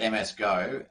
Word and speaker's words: MSGo: more what is msgo exactly so uh we pronounce it msgo msgo is um co-create co-developed by rxmx and